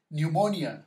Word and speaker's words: pneumonia: Pneumonia, right? Once again, this one is silent.